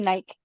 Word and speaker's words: night: Oke every night ya jadi night-nya itu bacanya gh-nya silence ya ya every night Oke